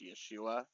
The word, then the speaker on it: Yeshua: I do believe in Jesus, but I refer to him by the original Hebraic term, what I believe is pronounced Yeshua.